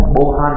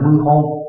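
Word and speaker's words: 謀反: là bo, không phải bo han mà là mưu hô, lưu ý nhé, đấy là cái đọc đặc biệt của nó.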